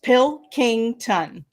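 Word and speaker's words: Pilkington: it up no problem it's like three words pill King tongue ah beautiful okay so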